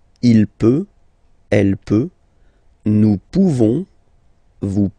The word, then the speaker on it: pouvons: Nous pouvons. Nous pouvons. Okay? You don't pronounce the final S.